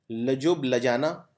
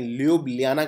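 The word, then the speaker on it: Ljubljana: तो ये इस देश की राजधानी है लजुब्लियाना। इसको प्रोनाउंस कैसे करते हैं? शायद ऐसे ही करते हैं, ल्यूब्लियाना करते हैं वैसे, कुछ लोग बोलते हैं लजुब्लियाना।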